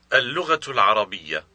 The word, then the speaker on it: اللغة العربية: اللغة العربية.